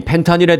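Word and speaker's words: fentanyl: 펜타닐이라고 발음을 했습니다만 사실 미국에서는 F로 이 발음을 해주세요. 정식 명칭은 펜타닐입니다. 펜타닐.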